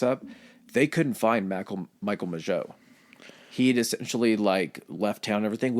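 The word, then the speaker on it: Mageau: How did you pronounce his last name? Majot.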